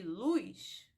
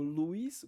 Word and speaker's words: luz: como se tivesse P Paz e Luz luz são pronunciadas da mesma forma e aí acontece também até em canções populares ou em poemas a rima entre a palavra luz por exemplo que vai ser realizado como Luiz com esse ditongo e